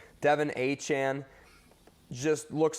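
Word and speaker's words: Achane: courland Sutton for the Denver Broncos Devon uh a aan now is how you pronounce his name Devon aan just looks like a superstar granted he's not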